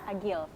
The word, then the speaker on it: Agile: Bacanya Agil apa Agile sih? Agil. Oh Agil, kenapa pakai E?